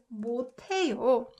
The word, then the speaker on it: 못해요: So if you pronounce it first, inevitably it makes t sound, right? So this one, 저는 한국어를 right? 으트 makes t sound. So this one is pronounced 못해요.